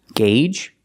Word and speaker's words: gauge: Gauge, Audi, and because. With these 3 words, the AU does not make the aw sound. It makes 3 different sounds. In gauge, it makes a long A.